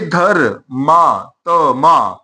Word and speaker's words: धर्मात्मा: ये देखिए धर मा त म ऐसे हम इसका उच्चारण करते हैं। धर्मात्मा। अब धर को ऐसे लिखा जाएगा।